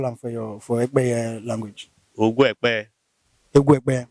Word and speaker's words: Ekpeye: That is the real name, Ekpeye, not Egu. Ogwekpeye. Ekpeye. That is our own pronunciation.